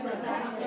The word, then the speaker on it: productive: I am less productive. How many syllables in the word productive? 3. Productive has 3 syllables. Where's the stress? 2. Yes. Productive. Productive. 3, 2.